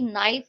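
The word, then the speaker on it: knife: जैसे कि नाइफ, knowledge और नो में जो है के साइलेंट है।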